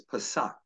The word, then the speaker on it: Pesach: The Hebrew word for Passover is Pesach, and it's spelled a couple of ways, P-A-S-O-A-C-H or P-A-S-A-C-H, Pesach.